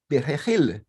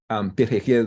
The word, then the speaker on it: perejil: Perejil is a Spanish word for parsley, and it's a very hard word for us Haitians to pronounce because we don't have those two consonants in Kreyòl, the r and the h, you see?